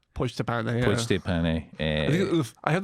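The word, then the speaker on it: Pojďte pane: inspired you, and I'm going to imagine I'm pronouncing this wrong, but I think it's Pojd'te Pane. Pojd'te Pane, yeah.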